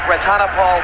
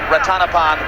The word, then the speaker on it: รัตนพล: He sings Thai country, and incidentally, yes, it looks like Ratanapal Warapine, but we were told by those who speak Thai, and amazingly enough, we don't, that it should be pronounced Ratanapan Warapine, so that's what we're doing,